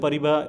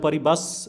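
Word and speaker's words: Paribas: বিএনপি পরিবা এটা একটা ভালো ফান্ড, ঠিক আছে। এটা পরিবাস হয়তো লেখা আছে কিন্তু এর উচ্চারণটা হয় পরিবা।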